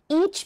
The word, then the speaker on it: each: เกียจ พูด ซ้ำ ค่ะ เวลา ออก เสียง ไม่ ออก eat นะ ถ้า ถอ ออก เสียง eat มัน จะ เป็น กิน อย่าง ง นี้ จ้ะ